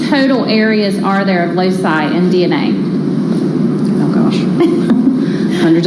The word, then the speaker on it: loci: So we call them loci. LOCI is how you spell it.